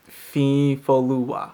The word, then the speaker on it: Fifolua: I mean, first of all, the Y isn't pronounced like y. It's actually a stutter. The N is silent, and the O and the U are pronounced in ways that most English speakers don't pronounce those letters.